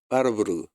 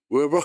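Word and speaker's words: Warburg: 이게 1923년도에 노벨상 바르부르그. 근데 저는 독일에서 공부를 했기 때문에 바르부르그라고 하는데 영국식으로 아니 미국식으로 발음해서 웨버 이렇게 하더라고요.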